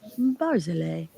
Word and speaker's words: Barzilay: I looked it up and he goes, Barzilay. It is easy. Barzilay. Like he was like, you can do it.